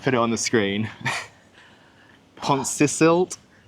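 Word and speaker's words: Pontcysyllte: Pontcisilt. Pontcillite? I'm gonna have to Google how to pronounce that. I actually did see how to pronounce it. Pontcisilt.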